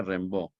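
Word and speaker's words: Rimbaud: aire un ve rambo que se escribe rim con eme rimbau rimbau y se pronuncia rainbow y berlín que se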